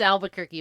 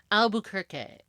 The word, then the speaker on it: Albuquerque: the count of aluer I'm trying to say it like not like American it's Albuquerque but it's in Portuguese it's Albuquerque I I can't I